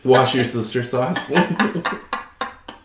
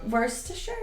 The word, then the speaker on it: Worcestershire: Is that what is it like Worcestershire sauce? I can't say that word. Worcestershire sauce. I literally can't. Every time I say that word, it becomes something new. It's different every time. Wash your sister sauce.